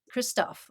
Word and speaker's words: Christophe: Christophe, welcome to Frontiers Health Voices.